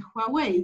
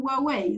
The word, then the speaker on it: Huawei: y ahora hablan de huawei llaman huawei entonces ahí hay un giro que también tiene que ver con cómo conocemos a china porque estamos aprendiendo que se pronuncia de una manera distinta más guau los 4 nos acercamos